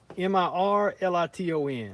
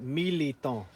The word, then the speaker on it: mirliton: Mirliton. Yeah, see, it don't sound like that's how you're supposed But to say yeah, it. when Cajuns pronounce it, that little R is the R is silent. Militant.